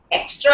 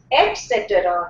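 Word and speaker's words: et cetera: etc etc sentence etc extra extra etc the the correct pronunciation is eta etc.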